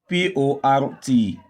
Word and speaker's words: port: That's why we are pronouncing the OR as Now, when you have a word like PORT, the R controlled vowel OR is pronounced as a long OR. So you say port, port.